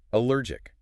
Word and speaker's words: allergic: And the final syllable ends with a sharp clicking k sound in the back of the throat, even though it's spelled with a c.